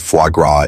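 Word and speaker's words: foie gras: And no, you don't have to know what fuagra is. Just don't pronounce the s.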